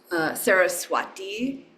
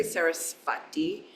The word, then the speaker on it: Sarasvati: If the V follows a consonant and it's attached to it like sva, you'll get it's like a joining of sva, means self or own. It'll often be pronounced as a W sound, wa. Saraswati, you could say Sarasvati, but you'll find your lips are turning that, and that's an example of a semi-vowel.